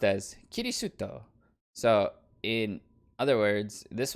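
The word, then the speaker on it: キリスト: And Christian being pronounced as kirisuto.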